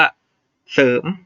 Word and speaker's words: เสริม: เสริม เหมือน กัน นะ ตัว หน้า เป็น เสือ ก็ ออก เสียง ว่า เสริม นะ ครับ รอ เรือ เป็น ตัว ตาม ไม่ ต้อง ออก เสียง นี้ นะ ครับ เศร้า ไม่